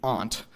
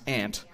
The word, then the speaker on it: aunt: of this rule in our pronunciation of aunt, which most other Americans will pronounce aunt. So you may have noticed that bathroom, or aunt, right, might sound a lot like how a speaker of British English may pronounce those words.